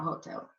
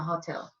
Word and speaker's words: hotel: I register in the hotel it's not Hotel it's Hotel because the H doesn't sound in Spanish now res is not